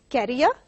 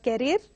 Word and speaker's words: carrier: Carrier, it is not carrier, it is carrier.